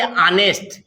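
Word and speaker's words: honest: बच्चे गलती करते हैं, इसको बोलना चाहिए ऑनेस्ट। क्या? ऑनेस्ट। इसको क्या बोलते हैं? ऑनेस्ट बोलते हैं। इसका प्रोनाउंसिएशन क्या होता है? ऑनेस्ट। यानी एच लिखा जाता है लेकिन एच को माना नहीं जाता है, इसलिए यहां से न बोल करके यहां से बोला जाता है आ से, ऑनेस्ट।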